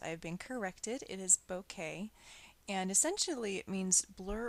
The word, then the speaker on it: bokeh: And bokeh is a word from Japan. It's not bokeh. I mispronounced it for years. I've been corrected. It is bokeh.